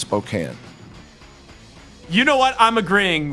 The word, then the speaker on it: Spokane: It's not Spokane and it's not Gonzaga. It's Gonzaga and it's Spokane.